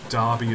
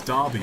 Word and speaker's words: Derby: on the stania 8fs and I think I pronounced uh Derby as Derby or I can't remember which video